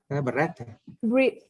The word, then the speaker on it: breathe: Cái này động từ này đọc Y. Cái này động từ này, cái này là danh từ này. Thì cái này đọc là gì? Breath. Breathe.